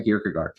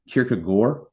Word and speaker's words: Kierkegaard: Sren, and then if you hear it pronounced sort of like phonetically, it sounds like Kierkegaard. Right, like the AARD is more like an or type sound.